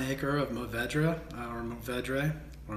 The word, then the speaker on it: Mourvèdre: So 2017 will consist of 1 acre of Tempranillo, 1 acre of Mourvèdre, or Mourvèdre. You pronounce it the way you'd like.